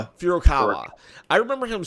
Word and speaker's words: Furukawa: Furukawa. Furukawa.